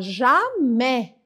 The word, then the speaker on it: jamais: 18ª Jam Jé nunca Cuidado para não falar Gé porque Gé é outra coisa agora você talvez você tem ouvido alguém aqui no Brasil mesmo falar jamé bom tá vendo jamais